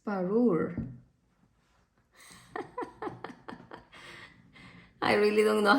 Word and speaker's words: Parure: I said Parude? It's Parure.